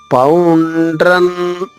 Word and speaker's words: పౌండ్రం: మూడవ చరణం పౌండ్రన్. ఇక్కడ చూడండి 3 అక్షరాలు ఉన్నాయి. అణా 1, డా 1, ర మరొకటి, 3.